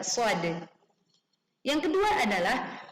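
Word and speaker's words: ص: Meskipun ada tanda baca, kita tidak membaca "sh," tetapi kita membaca "shad."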